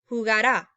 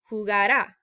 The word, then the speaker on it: jugará: to say is that make sure when you are pronouncing this, and we'll go over this more in clase, is that since all of them, except for the nosotros form, have an accent mark, make sure the emphasis when you're pronouncing goes on here. Jugará, right? You're like climbing a mountain.